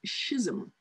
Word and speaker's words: schism: In English, we get the words schizophrenia, which is a painful, disruptive mental condition, and schism, that's how they pronounce it, schism, which is an abrupt, dramatic, and even painful division.